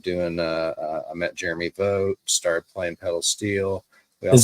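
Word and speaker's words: Vogt: then I started doing uh I met Jeremy vote started playing pedal steel is that v-o-i-g-h-t no it's spelled uh it's a v-o-g-t but you say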